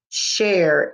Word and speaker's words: share: to share her treat s-h-a-r-e has the silent e makes the a say its name cher it was nice of